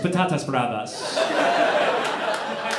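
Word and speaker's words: patatas bravas: no toas expert but even I though that's pronounced patas braas the brave potato tomato and Mayo remember those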